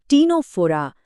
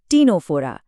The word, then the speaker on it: Ctenophora: इसका साइंटिफिक नाम है टीनोफोरा। हां, सी से शुरू होता है पर सी साइलेंट है। इसका सही उच्चारण है टीनोफोरा।